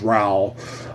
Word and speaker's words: Raul: Raul ra uh and Dion I read as Raul but he emphasized it's pronounced Ral um um who who is a basically he's